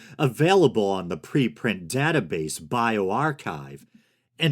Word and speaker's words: bioRxiv: Those are the questions an international team of scientists began to probe in a new study available on the preprint database bioRxiv.